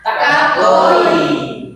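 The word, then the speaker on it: かっこいい: Kak kakoii kakoi sama-sama kakoi kakoi karena ada double konsonan dan double vokal dibacanya tekan dan akhirnya dibaca panjang kakoi sama-sama kakoi artinya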